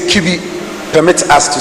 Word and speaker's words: Kibi: English lingua we say kibi permit us to say so so it it rhymes with everybody we have another multi-purpose